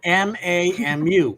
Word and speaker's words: Mamu: Mamu Treetop Walk. Mamu Tropical What's it called? Skywalk. Oh, he just butchered the shit out of that name. MAMU. Mamu. Like Shamu without the sham.